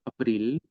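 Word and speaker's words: אפריל: Abril se dice April y se escribe así, en formato cuadrado o de imprenta.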